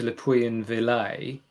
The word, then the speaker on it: Le Puy-en-Velay: I started in a place called, you might have to excuse my French pronunciation, but I think it's Le Puy-en-Velay, which is near Lyon, Lyon, and it's sort of south east France.